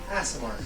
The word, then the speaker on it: Aasimar: It's Aasimar.